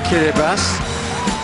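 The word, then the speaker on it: Kiribati: Tackle him this is kiribas looks like kirati but a t followed by an i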